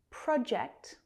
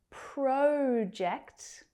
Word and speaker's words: project: Just make sure that you are stressing that first syllable because it's a noun.